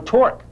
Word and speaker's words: torque: the same but opposite begin with t end with dork rhyme with dork dorks torqus see that same torque this kid here got